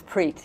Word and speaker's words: Preet: play sacred music band called Preet is that pronounced a curriculum that's preach yes which means love okay oh that's a